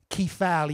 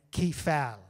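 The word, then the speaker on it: κεφαλή: uh head which is key foul you know it's you can pronounce it anyway because it's ancient greek so i'm just pronouncing it key fal you know that when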